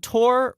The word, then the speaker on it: Tor: It's spelt like Thor. It is spelled like Thor, and I made that mistake. I called him Thor, and he gave me a kind of side eye, and I was like, oh, it's Tor.